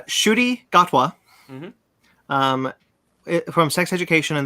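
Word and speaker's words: Ncuti Gatwa: gonna say oh uh i actually looked this up it's pronounced uh shooty gatwa um from sex education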